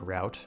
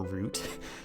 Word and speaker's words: route: That was an interesting way to mispronounce the word route, or route. Two valid pronunciations, and I picked neither.